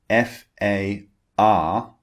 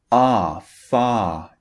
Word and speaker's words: far: But in British English, when the R comes at the end of a word, we do not pronounce it. So when the R is at the end, it just turns into a long vowel sound.